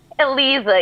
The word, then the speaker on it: Eliza: Aliza. Did I say it right? Eliza, yes.